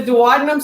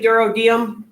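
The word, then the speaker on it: duodenum: We have the dadum. Some people say durodium. Both pronunciations are acceptable.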